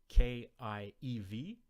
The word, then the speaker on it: Kiev: The other one, K-I-E-V, which I think is pronounced Kiev, is a transliteration of the Russian name of the capital of Ukraine.